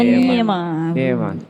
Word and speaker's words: Niema: Nema atau Niema. Niema, bacanya Niema.